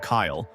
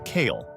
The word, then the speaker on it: Kyle: Instead of Kyle, Cartman says Kale, drawing out the EA sound in a way that's become instantly recognizable to fans.